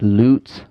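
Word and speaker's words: לוץ: what it meant um the Hebrew word that it gives is pronounced like loots and it means to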